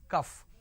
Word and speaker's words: cough: o u g h it's not calf it is cuff all right the syrup